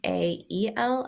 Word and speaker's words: Ishamael: is it spelled the same as Ishmael, or is it a little different there? Ishamael, I think. Oh, there's an extra syllable in there.